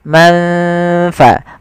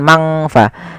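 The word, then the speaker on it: من في: anara izhar dan idgam maka samarkan ke huruf Fa Man faa bukan mangfa tidak semua bacaan Ikhfa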